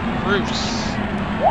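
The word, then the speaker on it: Roose: Roos. That's how they pronounce it.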